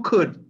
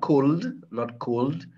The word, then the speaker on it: could: Who could, not cold. Don't pronounce the L.